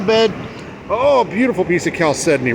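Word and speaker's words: chalcedony: beautiful piece of caledoni and yes I pronounce it caledoni caledoni is what I seek I look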